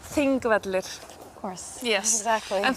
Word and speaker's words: Þingvellir: Pronounced? Þingvellir.